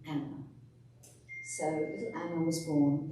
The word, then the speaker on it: Anne: Analise Marie was born now her name was soon shortened to an as we know her but they would have pronounced in the Continental way of Anna so little Anna was